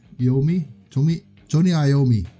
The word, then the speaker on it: Iommi: me to me Tony Iommi I think it's pronounced Tony Iommi bill was drums and